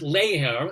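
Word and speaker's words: ladhar: gap between your knowledge there actually is a real gaelic word layer it's spelled l-a-d-h-e-r and it is this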